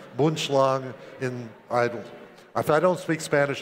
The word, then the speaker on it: Boomslang: Actually, it's pronounced Boomslang.